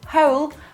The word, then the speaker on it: whole: a hole a hole if you add w at the start we're not gonna pronounce the w it's gonna be the same whole but it's gonna mean